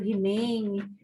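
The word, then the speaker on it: Gimeno: Sacristão, né, sacristã, Gimene, que se escreve Gimene, mas alguns pronunciam Rimene, sacristã, ele é também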